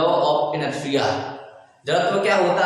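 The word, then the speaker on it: inertia: इसी को हम इंग्लिश में इनर्शिया बोलते हैं। जड़त्व को क्या कहते हैं? इनर्शिया। टी साइलेंट है यहाँ पर, इंटीरियर मत पढ़ लीजिएगा, इनर्शिया बोलते हैं।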